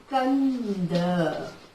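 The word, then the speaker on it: ಕಂದ: See, only if you are writing only this much, what it will, how we will pronounce? Kada. Yes, but here middle amki matra is there. Yes, that's why what we will call this one, how to read we will Kanda.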